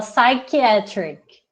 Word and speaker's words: psychiatric: Em inglês, a pronúncia aqui, você não fala o P, você fala psychiatric.